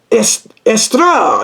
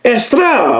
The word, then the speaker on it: Eostre: It's It's pronounced Estra. That's how it's pronounced. Estra with the with the That's how you pronounce it.